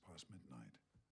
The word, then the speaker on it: past midnight: Usually in this case you wouldn't pronounce the t at the end of past because right after it comes a m consonant, right? And before that there's another consonant, the s consonant. So you've got three consonants together. That's a consonant cluster. The one in the middle, usually a t or the t sound, gets dropped. It's not pronounced. So you say past midnight.